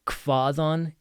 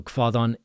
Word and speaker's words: hvaðan: So, we've got hvaðan ert þú? Hvaðan ert þú? So, again, we have HV sounds like KV. You have an eth in the middle, so a voiced th.